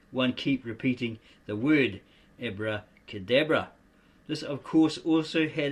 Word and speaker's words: abracadabra: or in the English language as if written ob-re-cor de ob-ro.